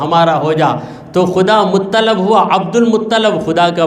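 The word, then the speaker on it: مطّلب: کے دادا عبد المطلب، بہت سے لوگ عبد المطلب کہتے ہیں، اس کا صحیح تلفظ ہے مطلب.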